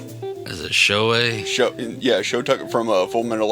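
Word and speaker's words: Shou: Show Tucker or Shoe Tucker. Wait, how do you say his first name? Is it show Yeah.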